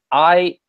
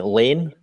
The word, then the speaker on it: Ian: Ian is it's spelled Ian, correct? That's right. Yeah. So a lot of people make the mistake and call me Lane. Mm, So it looks like an L, but it's actually just capitalized I, of course.